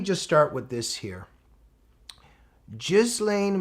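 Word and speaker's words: Ghislaine: Gizlane Maxwell, some say Gizlane. I think she even pronounces her own name Jizlane if I'm correct.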